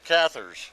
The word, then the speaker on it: Cathars: So you wrote this book, The Return of the, how do you pronounce that? Cathars.